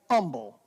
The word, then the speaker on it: humble: humble, and it's because in the South, we don't say the H. We say humble. In fact, Keegan McGuffey noticed that years ago, and he just didn't think I could pronounce the H. He said Anna's name is actually Hannah, but I can't pronounce the H. In the North, you pronounce the H, right? So it's humble.